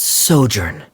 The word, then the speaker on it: sojourn: tell this story together foreign how do you pronounce this word let me see Ah that's sojourn it means to stay for a while this